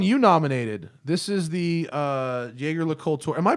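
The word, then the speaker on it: Jaeger-LeCoultre: This is the JaegerLeCoultre. Am I pronouncing JaegerLeCoultre correctly? No. How do you pronounce it? So it's Sorry. either Jaeger or JaegerLeCoultre.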